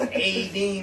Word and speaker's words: A.D.: You mean Adonai? A.D. See pronounce it. Everybody else said Adonai. I've never heard of Donnie in my life. It's always A.D. Mitchell.